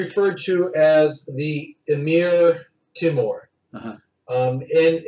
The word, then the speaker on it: Timur: He was usually referred to as the Emir Timur. Uh-huh. And how his name is spelled depends on what language you're transliterating it from. He was Turkic or Turk-Mongolian, so it was more like Timur, which means iron.